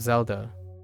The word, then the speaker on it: Zelda: Okay, the name Zelda also begins with a Z, so we choose Zelda to represent this initial, even though Z in Zelda is pronounced differently from this initial.